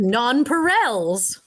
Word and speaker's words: nonpareils: yeah oh my word oh my gosh it's pronounced nonpareils that's funny um American pronunciations of French are